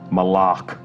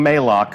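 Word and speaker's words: Malok: oryx's absence has left and that is Moloch malach right official pronunciation confirmed so if you hear anybody saying may lock send them right here to the archive of this stream our design leaders told us its malach we actually have a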